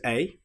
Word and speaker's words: a: And sadly this is the letter A. It sounds like the short vowel sound O but we have the letter A there.